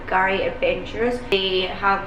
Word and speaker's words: K'gari: the first people on Kgari Island. The K is silent.